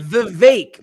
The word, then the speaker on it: Vivek: Vivek, like Vivek. Cake.